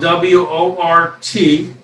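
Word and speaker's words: wort: home brewer your job is to make work that's spelled w o r t and the o has an e sound so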